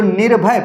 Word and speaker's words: निर्भय: ठीक पूर्व होता है जैसे निर्भय है तो निर्भय पढ़ो इसे निर्भय आराम आराम से निर भय निर्भय तो देखो जिस वर्ण